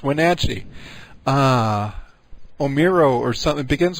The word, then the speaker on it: Wenatchee: It's not Wentachi, which is how he keeps pronouncing it. It's Wenatchee.